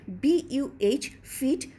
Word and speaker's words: buffet: আর এর অর্থ পুরনো ফরাসি শব্দ বুফে এ ব্লো বা এ অফ উইন্ড থেকে এসেছে এবং এটিকে BUH ফিট মূলত উচ্চারণ করা হয়।